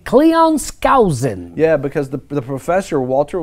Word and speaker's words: Cleon Skousen: Cleon Skousen.